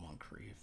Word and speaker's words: Moncrief: Oh, Moncrief. Rhymes with grief.